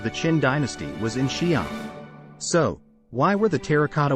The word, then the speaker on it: Xi'an: Xi'an is pronounced Xi'an, and it is about 1,000 kilometers southwest of the capital, Beijing.